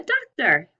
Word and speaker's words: doctor: word of the picture that sometimes o.r says er a doctor very good now let's